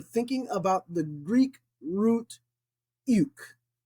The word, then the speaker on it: οἰκ: Now, this was a little bit challenging to pronounce, but it's Omicron Iota Kappa. Remember, when you get that Omicron Iota in Koine Greek, it's U, not oi as in Eraspian, but U.